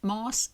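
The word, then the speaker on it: más: on page 45, that moss is pronounced with a slender s before third person pronoun. So, because they're beginning with a slender vowel, I would guess. So, it becomes a sh sound on the end of the word.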